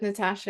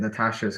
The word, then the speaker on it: Natasha: it and saying it, the sh sound is easier it is easier to pronounce, and the shape is easier to pronounce than Natalia. Absolutely. That's quite, you need quite clear diction with that, but Natasha's quite a lazy, like a lazy, I'm not trying that hard.